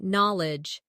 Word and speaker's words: knowledge: Next, try knowledge. It sounds like knol-edge, but is spelled k n o w l e d g e.